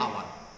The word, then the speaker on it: hour: Vowels से आता है, एन आवर, और एच साइलेंट होता है।